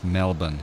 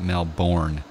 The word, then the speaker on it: Melbourne: course in Americans especially completely butcher Melbourne its Melbourne it's not male born its Melbourne and yeah it's Brisbane Brisbane its